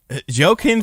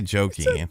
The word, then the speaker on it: Joaquin: I say Joaquin. It's a joke. Joaquin. Well, I didn't know that the J was uh uh like a Jorge. Joaquin Phoenix.